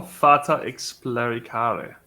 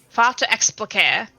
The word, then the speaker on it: Fata Explicare: That is not how I pronounced it. I It's thought Latin. it was Fata Explicare. That's how it was in my head.